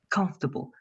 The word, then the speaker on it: comfortable: is not working good comfortable try only to say comfortable please carolina without the four don't say come for no comfortable don't say the four let's say it like